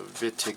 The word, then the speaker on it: Wittig: pronounced vitig with a v so the vittig reaction like with a v all right so the